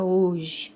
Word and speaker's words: hoje: Então, a letra H não é pronunciada, tá?